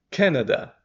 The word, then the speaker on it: Canada: a gente faz aqui Canada aqui é o can como a latinha de refrigerante Olha o sem vontade